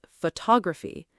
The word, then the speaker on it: photography: For example, photograph versus photography. The word changes shape depending on stress. Photograph. Photography. Same letters, different stress, completely different sound.